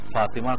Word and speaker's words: فاطمہ: سوال یہ ہے کہ فاطمہ کا صحیح تلفظ کیا ہے؟ فاطمہ بھی عام طور پہ لوگ کہہ دیتے ہیں، فاطمہ صحیح ہے یا فاطمہ صحیح ہے؟ دیکھیے، فاطمہ تا کے زیر کے ساتھ ہے، فاطمہ تا کے زبر